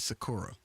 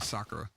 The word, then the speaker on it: Sakura: good opening um and they would always pronounce a girl's name is Sakura meanwhile the rest of the world is going Sakura yeah that seems dumb